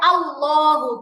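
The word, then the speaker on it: الله: হবে আপু মোটা আপু মোটা বলতে গোল উচ্চারণ বুঝাচ্ছেন তাইলে আল্লাহু যেমন হচ্ছে এটা হচ্ছে নরমালি যেমন হচ্ছে এখানে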